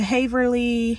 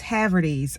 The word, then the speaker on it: Haverty's: And I just went to Haverly. Is it Haverly? No, it's Haverty's.